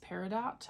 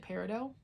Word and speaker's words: Peridot: I always thought it was pronounced Peridot.